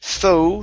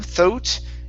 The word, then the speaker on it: thought: um thought right here instead of tho thought it's an ah sound in the middle so it's thought there you go good